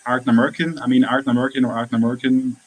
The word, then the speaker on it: Ardnamurchan: We got a question here from Expedition Whiskey, how to pronounce Ardnamurchan.